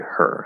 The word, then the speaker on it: her: Some words just have a silent H normally, but we know, like, for example, with her, if I say, I don't know, tag her, I don't know, tag her, or give her the money, give her, right? It sounds exactly like the noun giver.